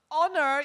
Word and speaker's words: honor: had habits okay herb but honor you don't pronounce the h okay another thing they